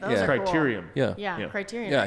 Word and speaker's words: criterium: but it's crazy there was a little local continuum like bike race here in town and that was cool create correct criterium yeah yeah criteria yeah i said it wrong